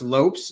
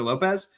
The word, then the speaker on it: Lopes: But yeah, so in Portuguese it's pronounced lops but for some reason since Diego is kind of like Porche Mexican, I guess. Like I don't know like he he's from Brazil but like Mexican at the same time it gets confusing on whether it's Lopes or Lopez.